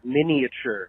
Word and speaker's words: miniature: People in the booth were saying that the I or the A is silent. I don't think it's either. I think the I-A makes the sound ya, kind of like Y-A, much like in the word Virginia.